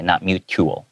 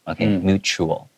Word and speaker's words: mutual: Yeah, and then make sure that mutual, even though it has a T, it's kind of pronounced more like a CH sound. Okay, not mutual. Okay, mutual.